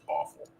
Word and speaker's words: AFOL: That was some pronounce adult fan of Lego or AFOL as awful.